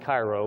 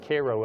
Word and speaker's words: Cairo: this is in Koo not not to be pronounced Cairo but they pronounce it Koo Illinois uh a woman observed a triangular-shaped object at 9:30 p.m.